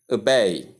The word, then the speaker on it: obey: And the stress comes right on the second syllable. We don't have the word called obey. It is not called obey. The word does not come pronounced as obey. If you're among those that are placing the stress on the first syllable or pronouncing it with the O, the letter O here, pronounced as O in the word, you are wrong.